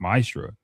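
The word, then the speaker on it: מעשר: You can find this in numbers 18 and 21 and Malachi 3 8-10 means 10th in Hebrew and is pronounced maestra.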